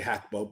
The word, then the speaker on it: Gakpo: But getting beyond that, I still think that Cody Gakpo brings, I say Hakpo because that's how you pronounce it in Dutch, but Cody Gakpo is still a phenomenal player on the left side.